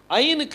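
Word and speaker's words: עַיִן: ஐனுக்கு உச்சரிப்பு கிடையாது. ஐன் வந்து சைலண்ட். ஐன் வந்து என்னது? சைலண்ட்.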